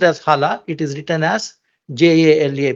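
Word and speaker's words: Jala: in that year the longest year Maize called Hala maze it's pronounced as Hala it is written as j-a-l-a because J in in Spanish is ha so it's Hala mace 45 centimeters long restricted to certain belts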